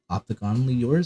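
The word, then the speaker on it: Optiganally Yours: But FM had showed me a song by Opticonally Yours, and that's how you pronounce it.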